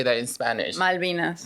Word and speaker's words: Malvinas: Malvinas. Malvinas.